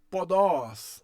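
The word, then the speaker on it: ποδός: Se você leu podós, você está correto.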